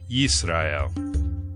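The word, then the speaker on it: ישראל: In the Aleppo Codex, vowel pointings in the form of dots and dashes are placed above and below each letter to represent the vowel sounds, providing the pronunciation yisra'el.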